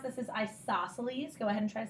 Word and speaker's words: isosceles: a pretty special thing in the way you pronounce this is isosceles go ahead and try a second isosceles and